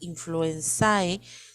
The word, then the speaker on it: influenzae: A pesar de que se escribe Haemophilus influenzae, se pronuncia Haemophilus influenza tipo B.